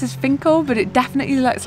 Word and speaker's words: Finchale: very very close to the abbey finkel is pronounced as finkle but it definitely looks like finch hale but both all of the locals are calling